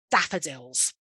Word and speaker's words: daffodils: the same thing with daffodils okay so three syllables the stress on the first nice round open shape of the mouth daffodils other ways to mark